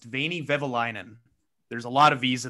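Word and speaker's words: Veini Vehviläinen: record and say i believe the name is pronounced veiny vivilinen there's a lot of visa well done it's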